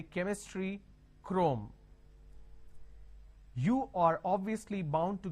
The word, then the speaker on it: Chrome: Can I say Chrome, like Google Chrome? No. The pronunciation is Google Chrome.